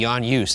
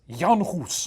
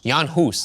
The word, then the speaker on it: Jan Hus: - Eeny, meeny, miny, moe said A, Jan Yus, and I like that because it rhymes with Aljuice. - Say it with me. It's Jan Hus. - Jan Hus.